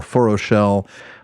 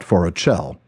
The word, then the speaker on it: Forochel: it called forel or forell but of course the last syllable with the CH follows the pronunciation rules in appendix e there tolken explains that